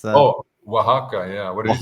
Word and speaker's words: Oaxaca: How do you pronounce that? Oh, Oaxaca.